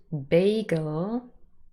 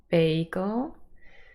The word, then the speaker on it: bagel: well or another word bagel nice for breakfast or a snack in between so here we have Bay and then girl with a schwa but it's stressed on the first syllable bagel and when we say